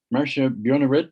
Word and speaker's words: Marcia Bjornerud: uh just by introducing our speaker this morning um marcia bjornerid is that correct pronunciation good she is professor of geology and